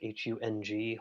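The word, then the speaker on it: hūṃ: a nice deep inhale the syllable is home hum in tibetan they pronounce it like hung almost like a home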